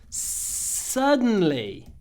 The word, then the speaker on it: suddenly: emphasize emphasize this word I don't say suddenly Sly with a big vowel no big vowels it's Russian we do long consonant the weather changed suddenly don't make the vowel bigger suddenly the weather changed suddenly